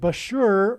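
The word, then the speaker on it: Bushehr: nuclear power plant and Bashur rhymes with Barker it is predicted that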